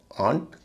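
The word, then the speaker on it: aunt: restaurant restaurants या resto एयू का आ उच्चारण दो शब्दों में होता है एक है आंट ए य एनटी आंट और दूसरा है laugh L ए यू जी H laugh laugh और आंट इसमें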